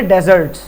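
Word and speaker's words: desert: होता ठीक है और डेजर्ट के ऊपर मैं कहूंगा य डेजर्ट मतलब सहरा अगर कभी यह स्पेलिंग दिख जाए ना double S ई आर टी बिल्कुल मुख्तलिफ मतलब भा इसको पढ़ते डिजर्ट यह डेजर्ट और यह है डिजर्ट डिजर्ट पढ़ते हैं इसको इसका मतलब मीठा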